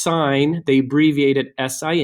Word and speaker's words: sine: ones one's called the sine ratio ones the cosine ratio and one's the tangent ratio and yes this is pronounced sign they abbreviated si n